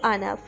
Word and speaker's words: আহনাফ: নিষেধ আছে স্যার কে আহনাফ sir Smith Ahnab বলল ঠিকই তবে নামটা শোনা গেল আনাফ অর্থাৎ উচ্চারণের সময় হ উৎস ছিল অর্ষা ঠোঁট উল্টে বলল